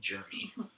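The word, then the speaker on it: Jrmi: Jeremy, for the chat's edification, is spelled J-R-M-I, Jeremy.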